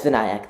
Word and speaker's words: Vinayak: and uh welcome uh VNC am I pronouncing your name correctly um no but it's not a problem sorry how do you say your name uh uh it's vanc thank you for asking